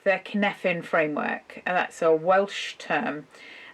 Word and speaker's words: Cynefin: I do like the Cynefin framework. That's a Welsh term. It's spelt Cynefin.